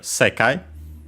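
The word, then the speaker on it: 世界: Then we have sekai, accented on the se.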